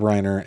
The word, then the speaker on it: Reiner: Nick Reiner, 32, was taken into custody on Sunday night, hours after the couple was found dead.